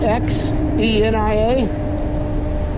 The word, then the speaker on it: Xenia: town here called Xenia x e n i a it's pronounced Xenia I don't know folks